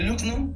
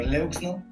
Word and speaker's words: Leukzno: Yo soy Luxno, o Leuxno, como lo quieran pronunciar.